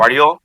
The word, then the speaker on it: Guardiola: And by hit, yeah, sorry, how do you pronounce his name? I don't want to Guardiola? put Guardiola? Guardiola.